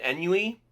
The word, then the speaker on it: ennui: from extreme boredom and ennui, ennui, it's a word I've only seen written, but I don't actually know how it's pronounced. Ah, yes. The Frenchest word there is.